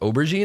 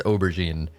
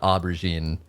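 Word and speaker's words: aubergine: Oberene, I think. I think it's oberine. Not not aubberine.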